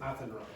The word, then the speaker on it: Athenry: Okay, and the pronunciation is Athenry.